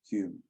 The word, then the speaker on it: Home: So the other one should be pronounced Hume as well, even though it's spelt Home.